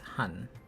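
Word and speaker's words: 한: And you pronounce this hun. Now, a vowel a vowel is usually in stick form.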